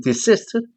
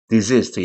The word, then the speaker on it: desist: 때로는 desist 또는 desist 양쪽이 발음이 되는데요.